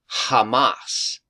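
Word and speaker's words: חָמָס: Hebrew word h 2555 and it literally is pronounced Hamas so I just wanted to point that out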